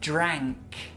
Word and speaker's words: drank: Yeah, he drank. Drank. He drank. He drank. Drank. Drank. Drank. He drank. Drank. Drank. Drank. Drank. La lengua sube cuando haces ese sonido, entonces es ah. Ah.